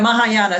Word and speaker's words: Mahayana: you're theravada or maya maya maya how you pronounce that one um you really yeah mahayana so but there's this aspect of discipline and